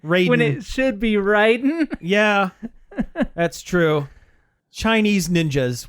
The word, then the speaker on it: Raiden: but pronounced or no is his name is pronounced Raiden when it should be Riden yeah that's true Chinese ninjas what else can